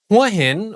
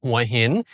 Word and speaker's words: Hua Hin: Huah Hin, or pronounced in Thai, Huh Hin, is located on the west side of the Gulf of Thailand, less than a three-hour drive from Bangkok.